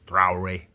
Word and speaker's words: Traoré: However, this guy Ibrahim Tr just sorry for for mispronouncing his last name is Trare, you know, but um he's done so much for his country in a short time.